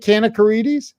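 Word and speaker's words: Kanakaredes: he can call Marina Kanakarides. Did I say her name right? Kanakarides? You did good. Is it Kanakarides? Yes. Kanakarides.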